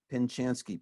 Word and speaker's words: Pinchanski: to see name it's right there pinchanski p-i-n-c-h-a s-k-i yeah what's that you know how